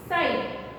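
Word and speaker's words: side: साइड, साइड, ई का sound देखिए साइड, और ई का जो साउंड है वो कैसा है? साइलेंट है, और आई का साइड यानी आई का जो साउंड है वो लॉन्ग है।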